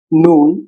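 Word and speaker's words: نون: নুন, উচ্চারণ জিহ্বা উপরের মাড়িতে লাগে। ন ন, এটাও নাসিকা ধ্বনি।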